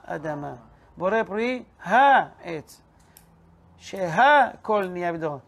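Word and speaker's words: שהכל: Sheha Kol Niya Bidvaro. Shakol, Shakol. There's no word Shakol. Say it correctly.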